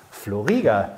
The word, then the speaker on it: Flo Rieger: Habe ich dich richtig vorgestellt? Ja, der Name war richtig ausgesprochen, ist korrekt.